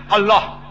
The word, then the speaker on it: Allah: it's their language similarly we know how to pronounce correctly Allah they say Allah is a no problem the right pronunciation is Allah later on when Reverend